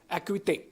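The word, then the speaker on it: Acuité: know it's difficult because it's originally meant to be a French word it's the actual word in French is akute what does it mean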